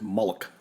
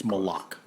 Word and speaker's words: Malaugh: it over with and I mispronounced it just a few minutes ago and I said mullik mullik yeah it's not it's close but it's it's malok yeah yeah nice all